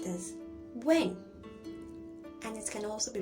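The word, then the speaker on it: 问: It can be pronounced as when, and it can also be pronounced as when.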